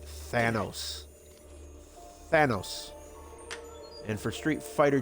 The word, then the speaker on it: Thanos: if in case you are listening ricky it's thanos thanos and for street fighter 2 it's sagat